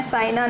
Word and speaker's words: Saina: देखो, इनका नाम है सानिया और इनका नाम है साइना। स्पेलिंग में लेटर्स सेम हैं, बट उनकी पोजीशन बदल गई है। SANIA, निया, ठीक है, सानिया, और SAINA, साइना।